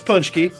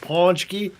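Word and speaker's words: pączki: is the correct pronunciation it's punch key punch key like punch key yeah pinch punch key but i think it's like if you're the pittsburgh ease it's like panchky i tell you what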